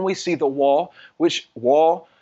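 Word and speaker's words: ו: Then we see the Wah, which Wah is pronounced Vav in modern Hebrew, but there was no V in the ancient Abrit in the Hebrew.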